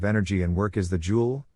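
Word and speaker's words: joule: in work is the jewel J pronounced Jewel the jewel is a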